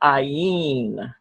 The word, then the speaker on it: ayin: Then we have something called ayin. Okay. By the way, ayin is a silent letter, just like aleph is up here. Silent letter. In other words, if there is a vowel pointing around it, you don't hear the consonant sound at all. It defaults right to the vowel sound.